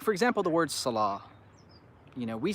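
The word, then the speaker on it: صلاة: should be pronounced but because there's a dagger Aleph on top we just say Salah what's interesting is the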